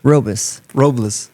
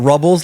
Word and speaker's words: Robles: Robles. I also, as a kid, I always got Rubbles, like Barney Rubbles from the Flintstones.